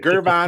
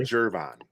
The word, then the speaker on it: Gervon: Is it Gervon or Jervon? I've heard it pronounced several different ways. Jervon, I think, is probably right. That makes more sense.